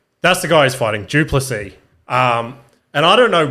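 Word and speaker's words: Du Plessis: Anyway, that guy there, I think you say his name is Duplessis.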